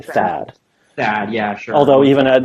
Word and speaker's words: THAAD: THAAD, yeah, sure.